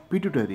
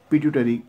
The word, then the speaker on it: pituitary: देखिए, यहाँ पे जो लिखा है, ये जो पॉइंट है, for many years the पिट्यूटरी, देखिए इसका जो, बहुत बार हम पिट्यूटरी ग्लैंड ऐसा बोलते हैं, लेकिन इसका जो प्रॉपर